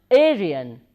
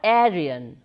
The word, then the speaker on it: Aryan: earlier it was called Aryan or Aryan it is pronounced in both ways Aryan and Aryan indo-european is the name